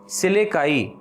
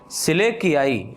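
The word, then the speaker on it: Selachii: Class heading डाल दीजिए सिलेकाई, सिलेकियाई या सिलेकाई। पहली सब हेडिंग पड़ेगी, पहली हेडिंग पड़ेगी सब क्लास सिलेकाई या सब क्लास सिलेकियाई, जो भी आप उच्चारण आपको अच्छा लगे आप कह सकते हैं।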